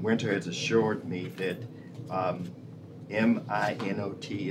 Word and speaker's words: Minot: And Winter has assured me that M-I-N-O-T is Minot, North Dakota, because his wife is from North Dakota. And watch we find out that it's something else, but he's assured me that's the correct pronunciation.